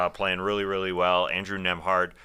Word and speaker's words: Nembhard: Andrew Nembhard, who's got that silent B in his last name in between Nem and Hard.